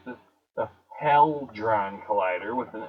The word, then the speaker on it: Hadron: I used to know that because in my mind I used to say Helidrone, like Helidrone, Helidome, Helidon, Hadron Collider, right? Hadron. Now it's Hadron.